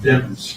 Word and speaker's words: Demons: of trial I mispronounce the defendant's name it's pronounced demons DM o Lemons with a is the way